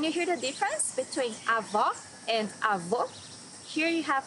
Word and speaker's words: avó: Avó, grandmother. Here you need to hear the sound of the last O in the syllable. It should be an open O, as we say in Portuguese.